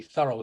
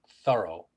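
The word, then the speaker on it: Thoreau: you belong to the thorough society you may pronounce the name thorough because that's the way the family pronounced it and the concord takes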